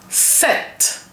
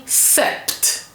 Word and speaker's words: sept: I'm not saying Sept because when you spell it you you write it with P S E P T but the P is silent. So the P of set is silent.